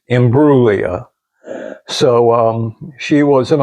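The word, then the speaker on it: Imbruglia: They had to teach me to not say the G.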